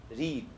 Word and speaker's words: read: The same spelling, but in present you pronounce it as read, in past you say read. Okay, this book is read by me. Okay, I read this book last year, and I read this book nowadays. Okay, so present tense it is read, and past same spelling, but it is pronounced as read.